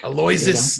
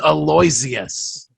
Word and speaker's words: Aloysius: Aloysius Snuffleupagus, for those of you who are curious. His first name is Aloysius.